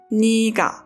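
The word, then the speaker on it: 네가: C is ngga ngga we write it as Nega but pronounce it as NAA N N means who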